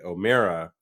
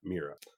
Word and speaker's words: O'Meara: name it's a Mallory O'Mara as in bear or a pear and not with and not Meera so my apologize to